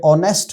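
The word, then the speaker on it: honest: एक वर्ड है नेस्ट आप इसको नेस्ट पढ़ रहे हैं या फिर आप एग्जैक्ट इसको सही प्रोनाउंस करते हुए ऑनेस्ट पढ़ रहे हैं तो जब आप इसको ऑनेस्ट पढ़ेंगे तो यहां पर एज की साउंड गिर गई है जज की साउंड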